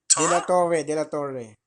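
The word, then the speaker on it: Dela Torre: Mora de la De la Torre.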